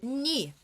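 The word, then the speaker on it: 네: Ni se escreve ne, mas a pronúncia ni vai ser o pronome seu, informal, mosubu.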